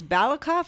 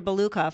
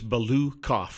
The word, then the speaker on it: Balukov: It's Balukov. That's what I thought, but then I've heard Randy say Balakov, so I'm confused. Balukov. That's what I thought. Everybody chooses their own way to say it. Anyway, tomato.